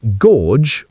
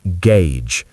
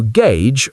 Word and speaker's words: gauge: Well, the correct pronunciation is gauge. The letter A is pronounced with the A diphthong, like in pay, and the letters U-G-E make a J, as in jeans. So gauge rhymes with page.